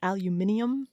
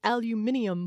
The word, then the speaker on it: aluminium: this case and it they were British and so they said aluminium and I was like that's how they Yes, that's how they say it over there.